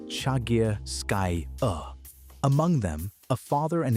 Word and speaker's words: Chagirskaya: 11 of them came from a single site called Chagirskaya Cave, pronounced Chagirskaya.